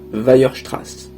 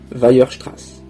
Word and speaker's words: Weierstrass: Répétez après moi, et ne vous trompez pas, Weierstrass. Weierstrass. Oui, c'est un nom allemand, c'est compliqué, c'est comme ça.